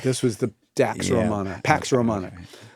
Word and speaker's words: Pax Romana: Pax Roma. Pax Roma. Yeah, this Pax Roma Pax as is the theme. It's one more syllable. Dax Roina Dax Romana. Yes, exactly. Pax Romana Pax Romana becomes the